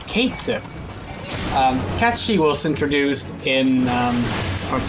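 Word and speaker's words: Cait Sith: The reason it's pronounced catchy, if you don't know, is because it's Gaelic.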